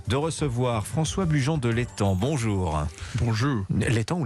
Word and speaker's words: l'Étang: Et j'ai le plaisir de recevoir François Bujon de l'Étang. Bonjour. Bonjour. L'Étang ou l'Estan, pardonnez-moi? Non, on ne prononce pas le S.